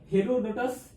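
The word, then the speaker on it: Herodotus: तो इतिहास के जनक हेरोडोटस या हीरोडोटस, दोनों सेम नाम है, लेकिन कहने का मतलब उच्चारण का एक कहना।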